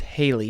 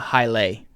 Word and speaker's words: Haley: Yeah, it's Haley, not Haile. It's not Haile Scotch. It's Haley.